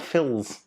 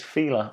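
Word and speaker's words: Fila: it's not an excess like feeler the shoes it's not phil's it is feeler i thought it was phil's it's feeler anyway next correct answer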